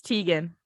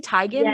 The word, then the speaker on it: Teigen: in 2018 and yet i still to this day think it's tegan it sounds better i don't know if it's just like it does sound better like i don't know if it's just the bias of us being like used to saying it that way but it just has a little ring to it it does i feel like chrissy tygan doesn't sound as good as chrissy teigen you know what's another